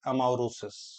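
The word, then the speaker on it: amaurosis: law that then that will be called as amaris am a u r o s i sosis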